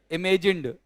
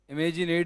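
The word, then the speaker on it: imagined: इमेजिनेड नहीं होता बेटा, इमेजिन्ड कहते हैं। होता तो लगेगा तो डी, लेकिन इमेजिनेड कोई वर्ड नहीं होता। उच्चारण सही करना है अपन को, वह है इट विल बी इमेजिन्ड।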